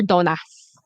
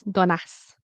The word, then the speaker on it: donuts: Donuts. I hear donutas. I hear. Okay. So, I'm going to write it. Um, so the first one, do Don nuts. Nuts. So the t and the s I hear like dun donuts. Be careful. Donuts. Donuts. Okay.